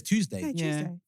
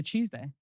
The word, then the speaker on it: Tuesday: like a yes it's Tuesday So, but when I say I know I'm saying with maybe it's a thing, but I say it like with ch. Yeah. Tuesday, Monday, Tuesday, Wednesday.